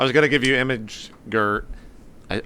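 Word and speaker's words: imgur: going to give you image g i i pronounce it image G don't make fun of me that's how it's pronounced I say that too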